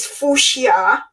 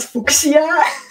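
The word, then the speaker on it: fuchsia: suede it's ultra sweet this is fushia and not fuxia and i will try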